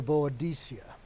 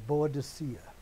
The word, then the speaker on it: Boudicca: Which brings us to Boadicea, or Boadicea. And I know there's at least one in our presence who's going to insist that it's Boudicca, which is the modern name for her now.